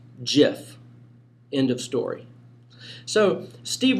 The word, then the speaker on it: GIF: here's his official statement it's a soft g pronounced jiff end of story so steve will height put an end to the debate it is a soft g gif so for all you gif pronouncers i hate to